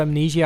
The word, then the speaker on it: Amnesia: And there's also Amnesia, which is pronounced amnesia in our country.